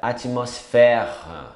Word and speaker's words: atmosphère: Atmosfera, atmosphère. É um R no final. PH com som de F.